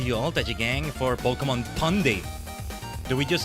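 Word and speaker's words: Pokémon: But no, it's because it's to clarify that it's not Pokemon. Pokemon, you know, poke like poking you with a stick.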